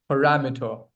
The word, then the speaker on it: parameter: It's not para. It's par parah. Par parameter. You drop the a sound. This one has to be dropped. Parameter.